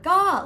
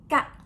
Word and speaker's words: ก็: is not something like ka or go, but it's go, short sound with falling tone.